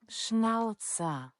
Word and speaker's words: Schnauzer: Because I feel like I know to a German I probably sound stupid. I sound more stupid when I say it incorrectly. But to my English ear, Schnauzer. I feel like I sound dumber trying to pronounce it in the German way.